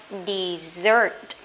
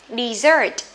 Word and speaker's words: dessert: Dessert. Dessert. Dessert này có nghĩa là món tráng miệng nha các bạn nhé.